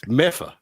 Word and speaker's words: Medford: It's Meffa. Meffa. Zoom in. How you spell it?